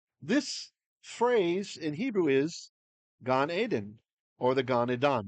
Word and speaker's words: Gan Eden: In Hebrew, it's Gan Eden, but we say Gan Edan. So if you hear that, and you're like, why? That's not how you say it. Now you know why. Okay, the why behind it's the influence of Aramaic coming in as a loan word, loan phrase into Jewish usage of English.